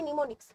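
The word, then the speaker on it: mnemonics: হয় তাদেরকে কি বলা হয় তাদেরকে বলা হয় নিমোনিক্স নিমোনিক্স এর ইংলিশ স্পেলিংটা তোমরা দেখে রাখো বানানটা দেখো এম দিয়ে শুরু হচ্ছে এম দিয়ে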